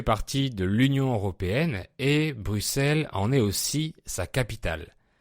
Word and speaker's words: Bruxelles: Sa capitale est Bruxelles, qui s'écrit avec un X, mais ce X se prononce S, comme dans 6 ou 10 par exemple.